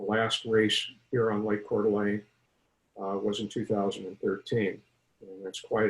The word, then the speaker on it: Coeur d'Alene: got started on Lake Coeur d'Alene or Lake Coeur d'Alene as I prefer to pronounce it show me the probably